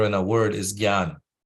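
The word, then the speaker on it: jnana: Pratipa say so yeah so Shriil praad pronounced gan the way I'm pronouncing it gan uh some people who are very uh particular and are uh deep into Sanskrit they might pronounce it as nyan nyan right so neither one is wrong uh but praad what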